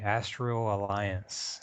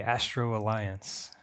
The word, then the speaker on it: Astral Alliance: It's the Astral Alliance. Yeah, that's it. JBL called it, sorry JBL, but he called it the Astro Alliance.